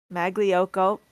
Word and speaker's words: Magliocco: pronounce my name correctly you can pronounce it the English way with the G Mago go not my favorite but if that's all you can manage I will accept that and I will also